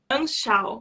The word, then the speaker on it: Anschau: E como pronuncia seu outro nome? É Anschau.